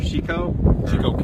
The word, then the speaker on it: Chicot: to ask you this is how do you pronounce this area of arkans chicoo County chico County it's really just the county